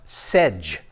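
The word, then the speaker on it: Segy: His name is Ladislaus Sedge. That's how you pronounce his name.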